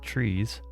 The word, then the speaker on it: tries: let's doesn't really matter i did learn that tries is pronounced trees which is super confusing hashing hashing i don't